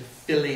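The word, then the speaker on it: Fili: Killy Philly and Killy they did that in the movie did you notice that in the movie they said Philly and KY uh instead of phy and key we all have said phy and KY since we've little teeny Hobbit readers but no that's not the way Tolen pronounced it it's Philly and Killy now he does say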